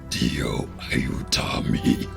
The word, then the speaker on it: Dio aiutami: Oh, and also I pronounced that wrong. That should be Dio aiutami.